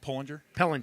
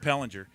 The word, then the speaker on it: Pellinger: Is Steve's last name pronounced Pollinger? Pellinger.